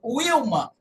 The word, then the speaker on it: Wilma: A letra Wo contrário do que muitos pensam, não tem só de V, não é se escreve Vilma com W, não é Vilma, é Wilma.